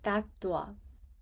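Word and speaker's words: tattva: differently than what so the V becomes silent, but it sounds like a W, so it'd be taktwa, okay?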